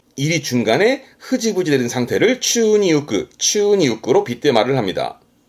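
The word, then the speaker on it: 宙に浮く: 발음은 추니 우끄, 추니 우끄. 우끄라는 건 떴다, 뜰 부자거든요.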